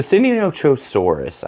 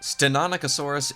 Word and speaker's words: Stenonychosaurus: And last but not least, the Seninoaurus. I don't know if I said that right. Spino, tell me about this guy and correct my pronunciation, please. Stenonicosasaurus Iniqualis means narrow clawed lizard.